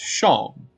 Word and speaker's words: Seam: The name's Seam, pronounced Shom, alright?